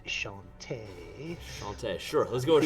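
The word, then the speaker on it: Chauntea: Chanti. a Chanti. No, It's a I'm goddess. a barbarian. Actually, I believe it's pronounced Shantae.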